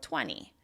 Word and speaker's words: twenty: If you notice the stress is on the first syllable: TWEN-ty. So the, the, the 20 at the end, the "ee" is much quieter. It's less loud, less long and less high in pitch, right?